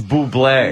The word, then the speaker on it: Bublé: How you pronounce his name? Oh, it's Bublé, Yes.